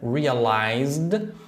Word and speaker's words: realized: Indy Olha ela pronunciou realized at pensando quando a gente tem se realize que está no passado realized o som ele é do de Now realized e a gente tem